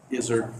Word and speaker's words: Izzard: Izzard. Izzard. Izzard without an L.